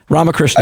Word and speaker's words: Ramakrishnan: You got it almost right. Ramakrishnan. I know it's got a few syllables in it, so okay.